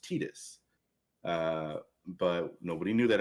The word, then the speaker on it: Tidus: fantasy 10 you know the main characters are titus and yuna at the time there wasn't they